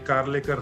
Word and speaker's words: Karlekar: And as a teenager, I used to give him a solace saying, our name Karlekar rhymes with Kirloskar, Dad, and there'll be a day I will have a similar entrepreneur legacy, no matter where I am.